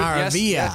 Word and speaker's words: Maravilla: Have I pronounced that awfully? We're going Maravilla. I should. Maravilla.